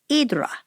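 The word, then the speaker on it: Ύδρα: Hydra is the English pronunciation. In Greek, the island's called Hydra, and you spell it Hydra.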